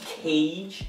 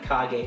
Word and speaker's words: Kage: buy the legend of cage just kidding it's the legend of kage will you just say